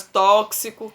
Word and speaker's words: tóxico: assim temos outras palavras tóxico tem som de cs nós temos é fixar